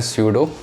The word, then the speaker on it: pseudo: इसका नाम थोड़ा पी से स्टार्ट होता है, इंग्लिश में ऐसे कुछ लेटर है, मतलब कुछ वर्ड्स हैं, तो इसको प्रोनाउंस हम करते हैं स्यूडो। वैसे PSEUDO होता है, तो कोई बात नहीं।